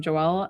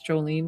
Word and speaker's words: Joelle: I have a few Jolans that follow me, which is so fun because people always say my name Joelle and they think it's Jolene down here, but down